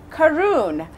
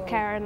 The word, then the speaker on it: Karun: So everybody would say Karun because of how it's spelled. Because it's short for Karungari. It's not It's not actually Karen, like the Yeah.